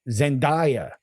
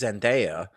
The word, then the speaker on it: Zendaya: she looked damn good and i'm talking about zendaya okay you know i have not seen the